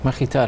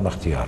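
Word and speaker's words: Mkhitar: Makhitar Arab. Makhitar, not Makhtiar.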